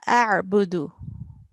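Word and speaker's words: أَعْبُدُ: So here, this verse you can see, La a'budu. Can you pronounce it again? لا أعبد. Yeah, a'budu. So we have to make sure ayn is pronounced from our throat.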